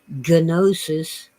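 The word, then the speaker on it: gnosis: knowledge with ancient Greeks well the English couldn't be bothered to pronounce something that difficult like genosis often they left off the G and just wrote n-o-s-i-s the English in their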